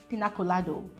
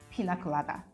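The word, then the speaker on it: piña colada: And then the part where they had actually pronounced pina colada as pina colado.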